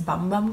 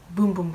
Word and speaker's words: Bum Bum: um be um and a lot of people think it's a bum bum cream but it's pronounced boom boom cream I actually went to